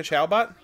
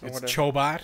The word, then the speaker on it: Chobot: Jessica Chalbot? It is. Chalbot. Chobot. Is it Chobot? You fucking idiot. Yeah. Oh, man, it's almost like I'm an idiot. Yeah, pronounce it correctly, dumbass.